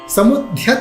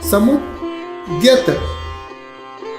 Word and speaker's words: समुद्यत: आगे देखिए, समुद्यत। समुद्यत नहीं, ध्यत पढ़ेंगे तो बिल्कुल गलत हो जाएगा। हमें बोलना है समुद्यत।